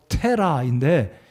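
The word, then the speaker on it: תרח: 데라의 이름은 히브리어 발음으로 테라인데, 이 데라의 이름의 뜻은 무엇이냐면요, 연기하다예요.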